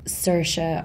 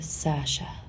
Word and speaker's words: Saoirse: so it's Saoirse but it's easier for Americans and English people to say Saoirse or Sasha what was the difference